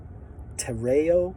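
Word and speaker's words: τηρέω: It's from a word, tereo, I believe is the way it's pronounced.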